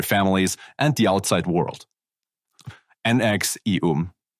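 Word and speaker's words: NXIVM: and the outside world NX eum NX e um yes that's really how they are pronounced started as a multi-level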